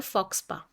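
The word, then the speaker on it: faux pas: उसका वर्ड होता है फॉक्स पा पी ए एस होता है एस साइलेंट होता है वेरी इंपॉर्टेंट वर्ड ये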